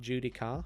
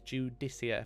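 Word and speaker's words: Judiciar: got the dude easier it's pronounced not Judy car Judy Kia it's judicia heels really cool this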